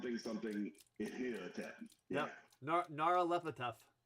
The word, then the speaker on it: Nyarlathotep: I can't pronounce the guy's name yet because it's Nyarlathotep. Something Ihotep. Yeah. Yep. Nyarlathotep.